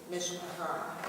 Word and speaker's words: mishpacha: So this is pronounced with the emphasis on the end syllable, mishpacha.